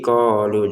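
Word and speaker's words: قالوا: dibaca panjang fil ardi qolu jadi yang ini pendek saja ya karena enggak ada ya di sini fil ardi qolu begitu qo sama lu masing-masing dua harakat kalau lu ini kenapa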